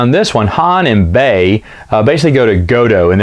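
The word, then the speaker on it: Bey: Now Bay, B-E-Y, is how you pronounce his, spell his name.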